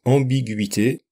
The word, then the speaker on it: ambiguïté: Même chose pour ambiguïté, ambiguïté. Sans le tréma, on dirait ambiguïté. Le tréma permet de séparer le U et le I.